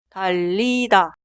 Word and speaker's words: 달리다: Escucha mi pronunciación. 달리다, 달리다.